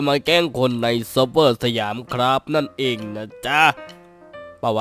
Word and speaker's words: สยาม: แกล้ง คน ใน Server สยาม นั่น เอง นะ จ๊ะ ป่า วะ เออ มัน น่า จะ ใช่ นะ ครับ โอเค ก็ ใช่ ผม อ่าน ว่า เสียม ครับ ใช่ ครับ เสียม ครับ โอเค ครับ วัน นี้